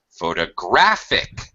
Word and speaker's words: photographic: I see photographic so photograph first syllable photographer second syllable photographic third syllable n okay this is